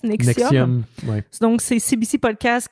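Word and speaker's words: NXIVM: comment est-ce qu'on prononce? Nexium.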